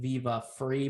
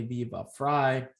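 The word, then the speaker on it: Viva Frei: uh viva fry and i mispronounced i said i think viva free but it's actually be about fry and he's walking around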